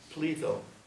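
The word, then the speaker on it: Pletho: So he gives it a little twist to express his modesty, even though it sounds like Plato when you pronounce it.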